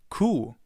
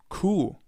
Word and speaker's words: Kuh: It's pronounced the same way as the German word for the animal cow. Kuh. Kuh.